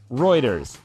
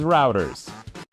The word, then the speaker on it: Reuters: is the original Source it's Reuters this is Reuters and this is routers now that's kind of